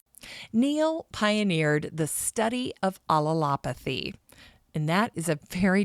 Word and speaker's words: allelopathy: Neil pioneered the study of allelopathy, and that is a very difficult word to pronounce, so take it slow. Allelopathy.